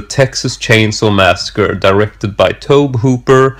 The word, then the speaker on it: Tobe Hooper: directed by tobe Hooper actually it's tobe Hooper I can never pronounce it correctly and no one else can either unless you've sort of read it and for some reason you know that that's what it is and I'm just gonna